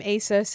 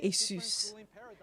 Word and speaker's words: ASUS: to say their name ASUS ASUS I think it's Asus I think it's you guys that say isus the rest of the